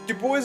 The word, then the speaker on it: Dubois: the nearby town of Dubois yes that's how they pronounce it Dubois is a cool little